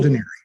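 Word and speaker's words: D'Anieri: It's Paul Deneri. Paul, Yes. And it's spelled D.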